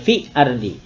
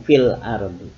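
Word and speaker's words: فِي الْأَرْضِ: Nah, kemudian pada kasus fil ardi, fil ard ini dijelaskan bunyi alnya, sehingga masih bunyi l-nya ada. Fil ardi, tidak fi ardi, tapi fil ardi.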